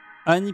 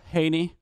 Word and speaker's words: Any: On dit Annie, enfin moi je dis Annie, comme le prénom, Annie Cordy, Annie Stérique, mais ça s'écrit A-N-Y, ça veut dire Henny en anglais, je pense, c'est comme ça qu'on dit.